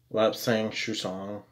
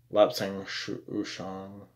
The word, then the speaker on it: lapsang souchong: Caravan this traditional Brunt blend is cut with lapsang souchong oh my gosh did I act I actually said it right lapsang souchong for its characteristics of smokiness it is black